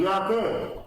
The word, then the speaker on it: Yahweh: But in Hebrew, the word J is pronounced as Y. Like Yehoshua. Joshua. Yehoshua. So, reading it in a Hebrew tongue, it would sound like Yahweh.